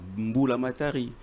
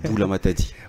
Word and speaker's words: Boulamatadi: Heureusement, toi, tu as bien prononcé mon nom parce que beaucoup de gens disent souvent Boulamatari. C'est Boulamatadi.